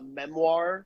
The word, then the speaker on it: Memoire: I was like you're all like it's just Memoir, so like our band name, and then NV for everything. You don't need to do the like accent on the E. That's just there to be like fancy for the logo.